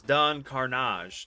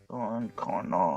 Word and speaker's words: Don Carnage: It was Don Carnage, not Carnage, but Carnage.